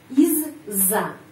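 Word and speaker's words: из-за: terdiri dari dua bagian Iz Za Izza bacanya Izza huruf Za panjang Izza Izza Izza artinya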